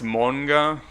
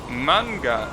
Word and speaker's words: manga: pronounces s like that manga is manga in Japanese every letter that is romanized is pronounced the same way so manga is always going to be manga it is not like